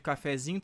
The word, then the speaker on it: cafezinho: Claro, a sílaba tônica de cafezinho tá no zi, mas a sílaba tônica da palavra, né, que deu origem aqui, né, a palavra cafezinho, seria essa aqui, né?